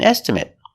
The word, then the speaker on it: estimate: Estimate with a short E sound.